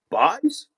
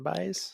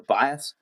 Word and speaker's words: Bais: No, it's just it's just it's just the boys but pronounced differently.